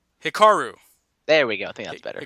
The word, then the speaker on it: Hikaru: you got this hi Kaoru Cheeta pretty good I think you got the last name but I'm pretty sure you butcher the first name Hikaru there we go the